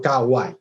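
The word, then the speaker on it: かわいい: Se lee ai, como digo, es una de las lecturas que tiene, para evitar esa cacofonía, ¿no?, de ka, a, ai, se cambia, ¿no?, esta pronunciación por kawaii, es una manera de facilitar su uso.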